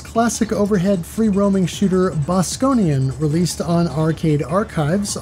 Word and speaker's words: Bosconian: overhead free roaming shooter bosconian released on Arcade archives a August 24th I have a hard time pronouncing this because I keep want to call it Bostonian have to dump the